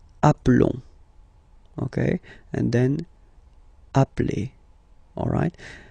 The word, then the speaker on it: appelons: Okay, so here for nous and vous, so we've got only one L, like here in the infinitive form. So that's the reason why I've been pronouncing appelons.